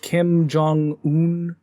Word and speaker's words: Kim Jong-un: a shit place, and anybody who thinks that Kim Jong-un, that's how you pronounce his name, is a good ruler needs to...